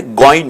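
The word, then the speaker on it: غين: আইন, আইনের উপরে এক নুক্তা দিলে গইন হয়ে যায়, গইন উচ্চারণ লেখা আছে।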